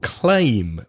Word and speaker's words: claim: try my so climb the other word wreck Lamar is claim CLA I am the same sound as stay day way my name Craig that a sound